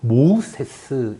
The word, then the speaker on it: 모세: 이 모세라는 이름을 좀 더 정확하게 발음하면요, 모세스 이렇게 이야기할 수 있습니다.